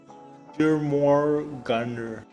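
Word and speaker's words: Jörmungandr: It's pronounced Jormungandr. Jormungand?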